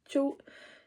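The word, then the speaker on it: João: Wow, Joe.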